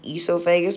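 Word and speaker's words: oesophagus: or in other words esophagus it's pronounced as esophagus but there's an extra o at the front that's the answer B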